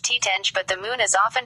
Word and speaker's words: Titania: Shakespeare's character's name is pronounced Titenge, but the moon is often pronounced Titani, by analogy with the familiar chemical element titanium.